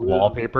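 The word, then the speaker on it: WLPAPR: app although it's called well it's called wallpaper at least that's how you would say it but it's spelled WL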